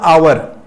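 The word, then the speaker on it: hour: अ आवर ये देखिए ये भले अ से है लेकिन इसका प्रोनंसिएशन करिए इसका उच्चारण करना है आवर होगा और उच्चारण देखिए वावेल से हो रहा है ए वाली फीलिंग से हो रहा है उच्चारण इसका प्रोनंसिएशन वावेल से हो रहा है और वावेल से प्रोनंसिएशन होने के कारण इसके पहले एन लगाएंगे एन आवर होगा ठीक है ना तो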